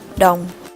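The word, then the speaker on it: đồng: founded in 2879 bc the currency is pronounced dome geography Red River Delta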